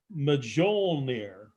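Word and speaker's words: Mjölnir: field is based on the mythological hammer it's pronounced majol near okay excuse me of thor ordenson which is the god of thunder god of thunder yeah oh yeah the myth tells us that meow near never missed his target never missed his target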